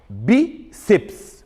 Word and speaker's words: bíceps: O bi, que é a penúltima sílaba, durou mais. É a mais forte.